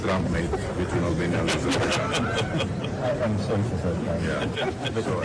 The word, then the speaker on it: Azerbaijan: Well, he didn't say Azerbaijan. He said Yeah. Aberjan. Right, he pronounced the name wrong.